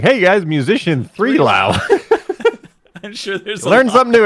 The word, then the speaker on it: 3LAU: i learned so much i'm glad that you pronounced it because i didn't know that that was blau i was like hey guys musician 3 lao i'm sure learn something